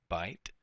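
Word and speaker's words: בית: Now, bait or bite. We translate this as bite. Pronunciation is bite.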